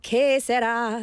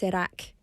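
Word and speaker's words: serac: Serak means uh it's not K Serak. Serak, it's Sarak. Uh it's s e r a c.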